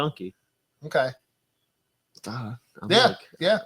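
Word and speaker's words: gnocchi: Like it's Italian food where it's G N O. Yonke. Yeah. Is that really how you say it? Yeah. Yonke.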